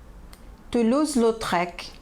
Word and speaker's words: Toulouse-Lautrec: Pronúncia dos nomes: Renoir, Sisley, Cézanne, Monet, Klimt, Degas, Seurat, Gauguin, Toulouse-Lautrec, Munch, Vincent van Gogh.